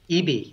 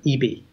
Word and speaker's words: ibi: is the name of it hi bi and pronounced EB I've been speaking with Western Digital and they were upset when I called it ibi and they said EB love it love it so okay so so